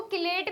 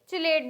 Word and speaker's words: chelate: क्या बोलते हैं इसको, किलेट भी बोलते हैं। तो कहीं कहीं इसको किलेट बोला गया है, कहीं चिलेट बोला गया है, तो इससे कंफ्यूज होने की जरूरत नहीं है कि प्रोनाउंसिएशन कैसी आती है।